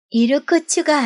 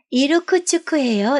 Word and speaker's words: 이르쿠츠크: 이르쿠츠가 아니고요. 이르쿠츠크예요. 이르쿠츠크. 놀랍게도 여자가 현애의 틀린 발음을 고쳐주며 맑게 웃어 보였다.